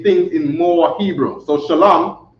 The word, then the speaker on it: Shalom: in more Hebrew so Shalom shalam is two syllables so here goes an